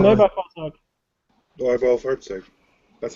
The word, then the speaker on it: Neubaufahrzeug: Neubaufahrzeug. Yes. I still can't quite pronounce it, like when I actually say it, but I can hear it in my head.